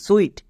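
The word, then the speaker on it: suite: যেমন এস ইউ আই টি ই সুইট, এখানে ইউ আই এর জন্য উই সাউন্ড হয়েছে।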